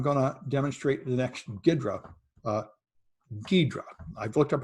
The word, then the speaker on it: Ghidra: and then i'm going to demonstrate the next gidra uh ghidra i've looked up how to pronounce it ghidra or nextgiver project which lets you see the